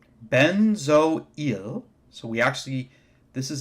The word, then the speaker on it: benzoyl: acid we put yl chloride so this is pronounced benzoyl so we actually this is actually two syllables